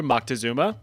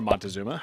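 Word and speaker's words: Moctezuma: More specifically, history has suggested that the Aztec ruler Maktazuma or Montuma, however you want to pronounce it, believe that the arrival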